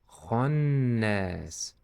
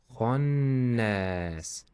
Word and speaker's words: خناس: This letter is heavy. That's why. Khannas. Khannas.